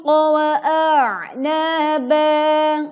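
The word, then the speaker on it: وَأَعْنَابًا: Hadaiq wa a'naba. Perhatikan wa'a. Hamzah terlebih dahulu kita baca, baru kemudian kita menekan suara di huruf ain.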